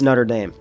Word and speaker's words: Notre-Dame: big architecture set from Lego this is the notam de peris I don't know I don't know what's with the accent there it's Notre Dame uh that's how I know how to say